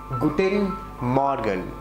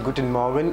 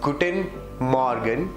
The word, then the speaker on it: Guten Morgen: It's Guten Morgen. Some people pronounce it as Guten Morgen.